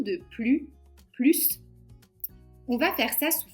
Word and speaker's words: plus: Tom est plus jeune que son frère. On ne prononce pas le S.